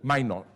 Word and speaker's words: Minotaur: calls, again, the global minotaur, how do you pronounce it in English? Minotaur? Minotaur, okay, I did it correctly, exceptionally, was born.